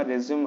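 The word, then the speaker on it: résumé: तो 30 मिनट के समथिंग आपका इंटरव्यू चलता है और इसके अंदर यहाँ पे आपका जो रेज्यूमे होगा, रेज्यूम आप जिसको बोलते हो, उसका प्रोनाउंसिएशन होता है रेज्यूमे, ठीक है।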